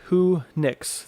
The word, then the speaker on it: Whonix: just be very specific and it's so it's pronounced who nix it's a the combination of two words so